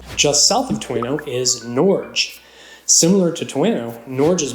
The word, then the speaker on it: Norge: of Norway Norge however the town's first residents used a Norwegian pronunciation nor and over time the name was Americanized maybe this video can be a catalyst for us reverting back to the original and proper pronunciation of nor which I for one